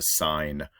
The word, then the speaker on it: sine: Now, the sin and cos is not how we pronounce this. So you might have heard my intro and not put it together. So the sin is the sine command, and the cosine command is COS.